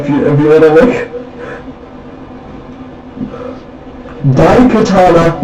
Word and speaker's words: Daikatana: the game is called Daikatana, not Daikatana, spelled like die, like you're dead, like you're dying.